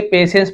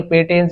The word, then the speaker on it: patience: उसका, उस आदमी का, patience इसे पेशेंस पढ़ेंगे, पेटेंस, ये टी भी साइलेंस होता है, सा उच्चारण निकलता है।